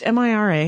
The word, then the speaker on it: Mira: I've always pronounced it Mira. I'm wrong. Many it's people Matt have. Myra. Yeah. But it's Mira, Yeah.